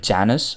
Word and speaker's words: Janus: we have got a model that is called Janis I guess it is Janis not Janis I'm not sure how do you pronounce it but I'm going to call it